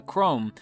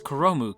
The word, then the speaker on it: Chrome: like there they cut like Chrome who I've been pronouncing as Karamu cuz I'm a huge weave and didn't realize that it was katakana what an idiot but